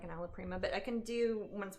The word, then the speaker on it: alla prima: Jasmine, what does alla prima mean?